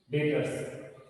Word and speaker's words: debtors: ठीक है, नेक्स्ट हम बात करते हैं इसके अंदर डेटर्स, DEBTORS, डेटर्स, B silent है, DEBTORS, डेटर्स।